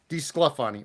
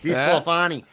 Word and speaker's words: DeSclafani: DeSclafani. Nope. Not DeScal. DeSclafani. Well, that's DeSclafani. You were close.